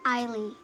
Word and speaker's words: Eiley: Some people spell my name like, and they also say it wrong. And can you tell us how to say your name properly? Eiley.